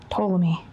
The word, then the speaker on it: Ptolemy: Ptolemy. Oh, with a P. Yeah, with a silent P, guys.